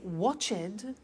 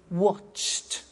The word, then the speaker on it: watched: the pronunciation becomes t we don't say watch it we eliminate the e and we say watched okay interesting hey so